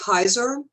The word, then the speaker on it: Huyser: Am I pronouncing your last name right? It's Huyser.